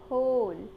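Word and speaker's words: whole: of this word 9th pronunciation of this award इस होल in which the giver silent इसका मतलब होता है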